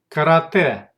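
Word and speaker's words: карате: In most cases, in borrowed words, the letter ye is pronounced like e. Here are examples. Karate, karate, karate.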